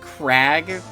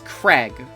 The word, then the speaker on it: Craig: I said Crag, but it's Craig, right? It's supposed to be pronounced Craig.